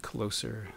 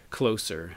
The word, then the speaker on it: Closer: uh Peter hook and he definitely pronounces this as closer not closer but closer love the album cover